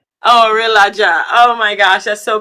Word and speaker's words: Orelaja: So, how do you pronounce your name? Orelaja. Ourelaja.